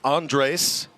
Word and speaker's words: Andres: name is spelled a and D re s pronounced Andres and the reason for that according to Anthony